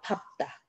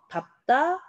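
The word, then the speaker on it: 밟다: 그 다음 자, 예외 2번 밥다. 얘는 원칙적으로 리을, 비읍 네, 앞을 선택해야 합니다만 예외로 비읍을 선택해서 밥다, 밥고, 밥지 등등 활용을 하겠습니다. 밥다는 비읍으로 선택합니다.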